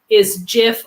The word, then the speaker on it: GIF: It's GIF not. You don't call it a graphics. It's the first word stands for graphics. You don't pronounce that with a soft G.